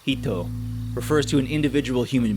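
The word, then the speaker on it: 人: The first character, which on its own is pronounced hito, refers to an individual human being, the focus of modern Western philosophy.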